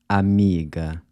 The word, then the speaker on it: amiga: So you’ll notice that the final “a” in these words is pronounced /ɐ/ as in “Cuba” or “sofa”, which is represented by this upside down “a” symbol.